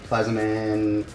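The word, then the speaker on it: Plazmaman: We've removed the standard intake manifold, or just the top of it, because we are replacing it with a Plazaman, that's how you say it, forward-facing plenum.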